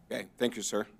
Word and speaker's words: ES: And again, we have the score sheet and the regrets and congrats letters with it's ES Architecture, but they pronounce it S Architecture, being the selected firm.